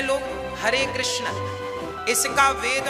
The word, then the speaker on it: कृष्ण: हां वेद मंत्र है ये शुद्ध उच्चारण इसका क्या है हरे राम हरे राम राम राम हरे हरे हरे कृष्ण हरे कृष्ण कृष्ण कृष्ण हरे हरे ये वेद मंत्र बोल रहा